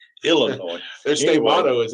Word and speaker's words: Illinois: It's Illinois. Their state Anyway. motto is Illinois. Please don't Okay.